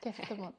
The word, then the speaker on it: Kestemont: Let me know, is okay the pronunciation? Yes, Kestemont.